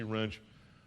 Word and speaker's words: Wrench: Easier way to remember the pronunciation of my name when you see Wrench. It's pronounced like the tool.